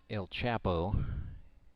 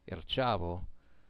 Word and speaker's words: El Chavo: Davi Sai Pizarro That's spelled C-H-A-V-O, not El Chapo. El Chavo means money in Puerto Rico.